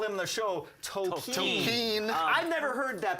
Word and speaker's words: Tolkien: But so they end up going to World War I to get Tolkien, of course, who wrote the Lord of the Rings books and the Hobbit novels.